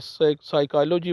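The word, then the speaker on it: psychology: तो जब ये साइक और न्यू आ जाएंगे तो इसके इब्तदा में जो P है उसको साइलेंट किया जाएगा, बोला नहीं जाएगा। ये साइकोलॉजी वर्ड है और निमोनिया वर्ड है।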